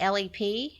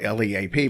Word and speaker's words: Leap: Yeah, well, everybody does because it's spelled L-E-A-P. But she Yeah. said they said in Ireland they don't leap, they lep. There So you go. there we go. So it's lep.